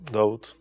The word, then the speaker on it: Daud: Just I changed the pronunciation, David to Daud.